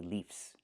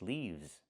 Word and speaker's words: leaves: One leaf with the F sound with no voice, one leaf and two leaves z. I cannot say leafs. The word is leaves.